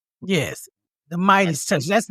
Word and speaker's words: MeidasTouch: media's touch is how it's spelled yes the midest touch that's how it's pronounced the Midas touch yeah m d a s touch yeah that's